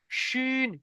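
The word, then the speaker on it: شين: এটা পাতলা আওয়াজ সিন, যেমন গাড়ির সিটি মারলে যেমন হয় সিন, আর এটা মোটা আওয়াজ শিন, শিন।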